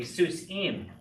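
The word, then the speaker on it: סוסים: And now, as we know, the accent's on the last syllable, so it's going to be Seuss im.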